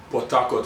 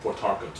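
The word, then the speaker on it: Port Harcourt: Potakot is how we would pronounce it. But if I'm trying to be you know pronounce it well and enunciate then it would be portark right lived in I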